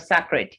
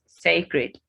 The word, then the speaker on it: sacred: first is pronounced secretary sacred so the a here has the a sound it's not a it's a it's not sacred it's sacred then scares scares not